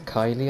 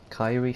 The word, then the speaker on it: Kyrie: Just coming off the train there with the hat and the long hair is I think it's Kylie, I want to say, or Kyrie she pronounces it.